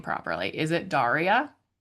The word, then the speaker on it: Daria: I want to make sure I'm pronouncing your name properly. Is it Daria? Yeah. Daria.